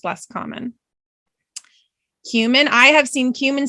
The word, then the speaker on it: cumin: It's the cumin. Okay? It's very similar to saying the word cumin. We don't say cumin. We say cumin.